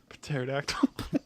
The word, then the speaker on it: pterodactyl: A pet pterodactyl. The P is silent. pterodactyl.